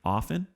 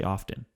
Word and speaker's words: often: looked this up recently often the t is silent it's a silent it actually is a silence you don't say often often times no often